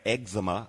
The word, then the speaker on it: eczema: yes it can and it would you have eczema is the correct pronunciation for those people that are listening uh